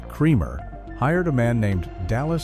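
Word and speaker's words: Krempkau: A lawman named Gus Kremer, who was pronounced Cremer, hired a man named Dallas Stenmeer, pronounced Stenmire, to be the new town marshal.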